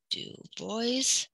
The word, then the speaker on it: Du Bois: is w e be do boys and I'm not pronouncing it wrong that is how he pronounced his name when did they write